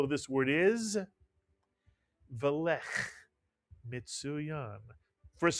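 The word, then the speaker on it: מצוין: The first shva is pronounced, mitsuyan.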